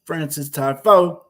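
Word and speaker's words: Frances Tiafoe: Keep on saying it correctly because it's a little difficult to pronounce the way it's spelled. It's Francis Tiafoe, actually from my hometown, Riverdale, Maryland.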